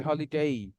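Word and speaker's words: holiday: যাবে তাহলে আজকে থেকে যখনই কোন ওয়ার্ডের শেষে এ ওয়াই দেখবেন তখন এটা টান দিয়ে বলতে হবে লাস্টে এই সাউন্ডটা আসবে এই সাচারডেই সানডে মানডে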